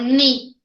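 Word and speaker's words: knee: na hora de anunciar eu não pronuncia esse Car eu falo direto ne eu não falo com carne eu falo ni oi povo que raio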